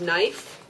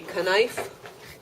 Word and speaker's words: knife: the way it starts it has a silent k right the word is knife okay it looks like it should be knife but it's it's cannot